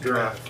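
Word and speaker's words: draught: and the dra draft ght is is pronounced draft i know sticks in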